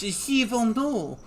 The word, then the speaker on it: Gévaudan: They mispronounce that horribly. It's Gévaudan.